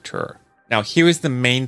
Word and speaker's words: Ture: We've heard his name pronounced Ture and Ture. We decided to just go with Ture.